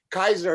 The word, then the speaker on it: Caesar: Kaiser is how you correctly pronounce the word Caesar. In Latin, you wouldn't say Caesar, you would say Kaiser.